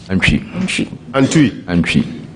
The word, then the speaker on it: Antwi: Bright Antwi or Antwi? Antwi. Okay, Antwi.